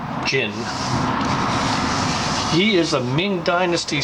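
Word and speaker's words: Jun: first name would be spelled j-u-n but pronounced Jin he is a Ming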